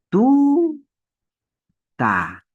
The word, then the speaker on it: tuta: la mayor fuerza de voz está en la penúltima sílaba. Esta palabra tiene dos sílabas. Tú, eso es una sílaba, y ta. Y la mayor fuerza de voz va a estar en la penúltima sílaba. No en la última, en la penúltima sílaba. En tú.